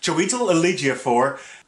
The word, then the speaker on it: Chiwetel Ejiofor: Doctor Strange was directed by Scott Derrickson, and it starred Benedict Cumberbatch, Chiwetel Ejiofor, I said it right, Tilda Swinton, Mads Mikkelsen, and Benedict Wong.